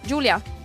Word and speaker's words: Julia: Yeah, it's Julia, but a bit Italian, yes.